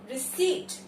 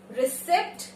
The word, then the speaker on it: receipt: P is silent. रिसीट, रिसिप्ट नहीं, रिसीट. The correct pronunciation is रिसीट.